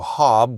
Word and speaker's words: hob: Um, the word hob is an old, very old, um, rhyming nickname for Robert. Um, it rhymes with Rob. And so, Hob was used as a nickname for Robert or Robin as well. Um because hob rhymes with Rob.